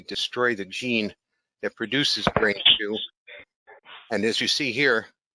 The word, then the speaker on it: BRN2: receptor normally suppresses it's spelled brn2 and it's pronounced brain two they developed a brain two inhibitor that plugs